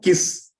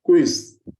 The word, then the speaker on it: quiz: Then one of the words we normally used to mispronounce is, it's not kiss, it's quiz.